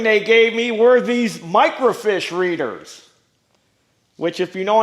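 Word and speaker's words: microfiche: And I've got plenty of microfish. This is all microfish. And this box is full of microfish. Now, I know what you're thinking. What's a microfish? It's not a little tiny fish.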